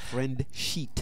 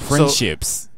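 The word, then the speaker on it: Friendsheet: how you say it not Pinterest you yeah it's not Pinterest but it's like Pinterest friend sheet friend sheet like friend that's what I'm saying you have to be very careful how you say it friendships it's like that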